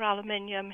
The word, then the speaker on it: aluminium: Well, at the moment, we're at a position of being able to measure aluminium in the human breast.